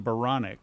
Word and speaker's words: Baranek: Well, my last name Baranek rhymes with bionic.